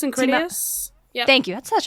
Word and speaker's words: Critias: Specifically, it is the Timaeus and Critias. Yeah. Thank you. That's such a better pronunciation than I was going to pull up.